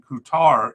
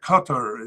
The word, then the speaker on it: Qatar: Uh recently moved to Aldai in Qoutar in Qatar. Uh Qatar is the way it's supposed to be pronounced since 2025.